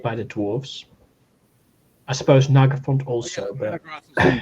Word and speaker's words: Nargothrond: And then Goth, as in Gothic. Oh, Nargothrond. And then Rond, from Elrond, I guess.